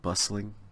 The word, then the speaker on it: bustling: burst links it II bustling bustling bustling it's a silent T I guess a bustling